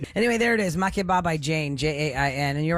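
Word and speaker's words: Jain: that I did yes her name is I believe Jane it's j-a-i-n so I'm assuming that's how you pronounce it okay yes it's m-a-k-e-b-a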